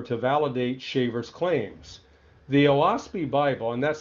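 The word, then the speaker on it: Oahspe: declared by Palmer to validate Shaver's claims the owaspy Bible and that's spelled o-a-h-s-p-e was said to be dictated By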